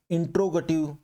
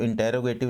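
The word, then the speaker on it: interrogative: इंट्रोगेटिव, ये आप थोड़ा प्रोनाउंसिएशन भी देख लीजिएगा, इसको इंटेरोगेटिव नहीं बोलते, इसको इंट्रोगेटिव हम बोलते हैं।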